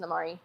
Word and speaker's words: Normari: But my name is Normari, but it's pronounced Namari.